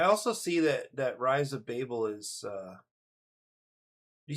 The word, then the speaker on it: Babel: I think that's Babel, right? I would normally, if I was kind of reading more phonetically, I would think Babel.